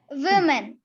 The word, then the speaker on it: women: Though you cannot see an I or E after W, it is O, but the pronunciation of this word is women. Women. You round your lips because it starts with W.